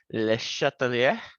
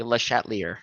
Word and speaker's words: Le Chatelier: name is french it's i believe pronounced le chatelier but i'm not very good at pronouncing uh french names that's my best um i unfortunately will probably pronounce it most likely le chatelier that's probably how you must hear it so this is there's